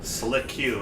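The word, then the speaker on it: Sliq: There was also an Absol named Lysol, a rarely used Magnemite named Slick, spelled S-L-I-Q, Slick Q is how I And, prefer to pronounce it.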